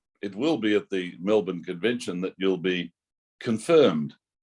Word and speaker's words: Melbourne: Just remind me again how you pronounce the name of this city. Melbourne.